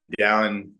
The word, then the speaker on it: Dallin: Is Dallin. No one can pronounce it whenever I leave Utah.